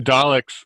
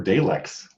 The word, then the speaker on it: Dalek: In the English language, when you've got a vowel and a consonant, another vowel, the first vowel becomes long. In multisyllable words, yes. Yeah, that's what this is. Dalek.